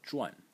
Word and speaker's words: 傳: So the parents, they transferred it on to you, and the second pronunciation for this character is zhuan. In the fourth tone, and in this case